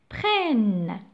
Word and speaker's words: prennent: Prennent, donc ENT. Je ne la prononce pas. Je ne dois pas prononcer ENT. On ne va pas dire prénom, d'accord? Parce que c'est un verbe conjugué à la troisième personne du pluriel.